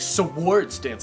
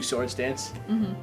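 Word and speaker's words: Swords Dance: a black belt dude Who Says sewards dance he's like swards dance like swards cuz he's pronouncing it wrong and then he gives you sword dance uh which is a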